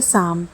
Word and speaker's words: psalm: अगला एग्जाम्पल है साम, PSALM, साम। अब इस पे भी पी जो है उसकी कोई आवाज़ नहीं है।